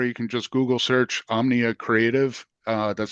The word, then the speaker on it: Omnia: can just Google search Omnia creative uh that's spelled om M as in Michael N as in Nancy I a uh a lot of people just say Omni creative and they forget the a so uh it's crucial